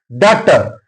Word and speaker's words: daughter: Daughter, T is followed, GH is followed by T, that's why GH is silent here.